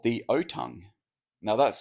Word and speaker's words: Otang: Now, this animal is uh called the otong. Now, that's spelled O T A N G O Tang, but it's pronounced otong. Um kind of like orangutan, but actually in the